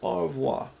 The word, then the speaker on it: au revoir: another week but say goodbye in French it's au revoir and here are the Fab Four teaching you